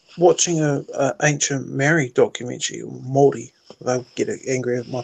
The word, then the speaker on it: Māori: Hey, I learned something today watching a ancient Maori documentary, Māori. They'll get angry at my pronunciation.